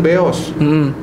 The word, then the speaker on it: Beos: Terus ada yang ngomong Jakarta Kota itu stasiun Beos. Nah itu kan sebetulnya pelafalan dari nama perusahaan kereta api yang dulu stasiunnya di situ, BOS.